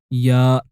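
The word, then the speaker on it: ياء: The 28th and last letter is ya. Ya is looking like a yellow snake with two yo-yos below it. And it sounds like the letter Y of yellow and yo-yo. You say ya.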